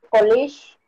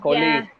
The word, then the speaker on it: colleague: With college. Colleague. Over there. Listen to the pronunciation. Colleague. Yeah. Si dicen college, es universidad, right? Colleague. Yeah, this one is colleague.